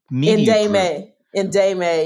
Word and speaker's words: NDEMA: And you also have, I noticed, and I don't know how to pronounce it, NDEMA. Yeah. Indame, yes.